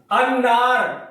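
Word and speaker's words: النار: उससे मिलाकर पढ़ा जाएगा अलिफ को अन्नार अन्नार में आप देखेंगे अलिफ लाम के बाद नून रूफ शमसी में से है इसलिए यहां लाम साइलेंट रहेगा लाम को नहीं पढ़ा जाएगा ठीक है इस तरीके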